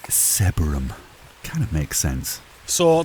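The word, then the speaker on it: Sebergham: bit old now approaching a little village called sebum it's probably not it's probably not pronounced seab seab I can't say it sebum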